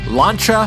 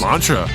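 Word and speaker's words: Lancia: number one launcha Stratos ooh launcher I didn't know you spoke French well apparently that's how it's pronounced you know 3D I'm just too American to make that cha sound without a c and an H let's go over the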